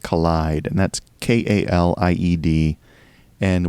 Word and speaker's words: Kaleid: And it also had an instrumental B-side called Collide, and that's K-A-L-I-E-D. And we had no idea how to pronounce that until someone posted an article where Martin Elgore stated that he meant it as in kaleidoscope.